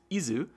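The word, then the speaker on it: Isz: I always want to pronounce it Is when I see the English spelling, but the Japanese phonetic is Izu, so Is, I guess,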